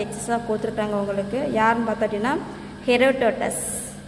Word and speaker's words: Herodotus: யாருன்னு பார்த்தோட்டின்னா ஹெரோடோட்டஸ். Pronounce தி word ஹெரோடோட்டஸ், HERODOTUS.